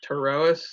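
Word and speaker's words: Pterois: there's three genuses there's the tarotus spelled with a p like pterodactyl there is territoroas and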